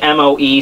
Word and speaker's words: Moe: And oh, by the way, I found that someone said I'm pronouncing Mo wrong, even though that's how it's spelled in English, M-O-E. Someone says I should be elongating it, like Moe or something. I don't know, but it says Mo.